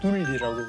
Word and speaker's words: 둘리: 예, 그래서 그 둘이라고 하면 좀 너무 또 약간 발음이 또 좀 두리가 좀, 예, 예. 그래서 둘리라고.